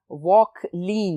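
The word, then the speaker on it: Vauquelin: अब स्टूडेंट्स, इसको डिस्कवर किया था फ्रेंच केमिस्ट ने, लुइस निकोलस वॉकलीन। स्टूडेंट्स, ये फ्रेंच प्रोनाउंसिएशन है, वॉकलीन होगा। 1797 में क्योंकि ये रिएक्टिव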